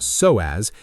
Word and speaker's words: psoas: The psoas, pronounced so-as, is the deepest muscle in the human body.